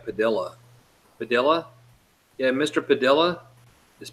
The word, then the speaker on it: Padilha: bestest one they go and they try to pronounce Padilla Padilha padilha yeah mister padilha miss Padilla India yeah